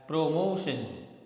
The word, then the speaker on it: promotion: Next word is PROMOTION, and generally we have the habit of speaking this word as promotion, okay, but the correct pronunciation is promotion, promotion, okay.